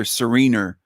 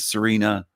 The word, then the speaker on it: Serena: He called her Serener instead of Serena.